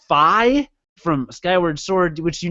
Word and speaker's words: Fi: Goron and fee who apparently her name is pronounced Phi from Skyward Sword which you never played so